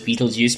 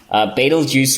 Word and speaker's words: Betelgeuse: Some people mispronounce it as Betelgeuse, but it's Betelgeuse, Betelgeuse, and it is a very bright star.